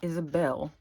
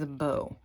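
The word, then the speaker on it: Isabo: everybody I meet says my dog's name wrong it's not Isabelle it's it's a bow i-s-a-b-o I named her after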